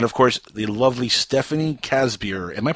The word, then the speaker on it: Casebier: course the lovely stephanie casbier am i pronouncing your last name right by the way casper that it uh it's actually pronounced like a case of beer that's awesome are you